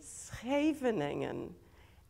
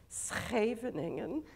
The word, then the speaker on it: Scheveningen: It's Scheveningen, and nobody but a Dutch person can say it.